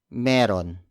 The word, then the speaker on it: Meron: Or you could pronounce it even more casually like meron.